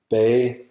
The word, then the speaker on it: bage: G is also soft at the end of words and between voiced sounds in a syllable coda. That means its place of articulation opens up and it changes from a stop to an approximant. It's almost silent or silent.